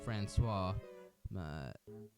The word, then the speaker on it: Franchise: Moth Chew Moth, Secretly Meaty, Soup, Spork, Fat Pig Fong, The Cross-Dress Crusade, Franchise, pronounced Francois, Moth Chew Moth again, which it's not like Moth Chew Moth for the second time.